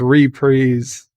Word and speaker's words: Reprise: his later years um his reprise and that's the way he pronounced it his reprise versions of